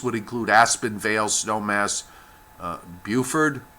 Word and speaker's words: Buford: include Aspen Vale Snowmass Buford buf ORD I believe that's how it's pronounced and trappers Lake I